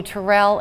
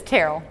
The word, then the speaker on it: Terrell: much of your career with people calling you Tyrell and you don't correct them uh well I